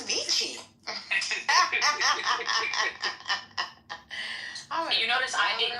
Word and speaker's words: Avicii: It's Avicii.